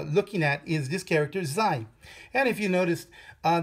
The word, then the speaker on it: 在: these three um characters the first character is pronounced Z the second character is pronounced Z and the third character that we will be learning is pronounced Z you may notice something that all of these three characters are actually fourth tone characters right they're all fourth